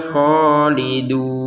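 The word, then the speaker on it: خالدون: Wahum fiha kholidun.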